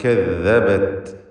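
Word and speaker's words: كَذَّبَتْ: കദ്ദബത് ഇതിൽ തഫ്ഖീമിൻ്റെ അക്ഷരങ്ങളിലെ തർക്കീഖാണ്. കദ്ദബത് ദാല് വ്യക്തമാക്കി ഉച്ചരിക്കണം.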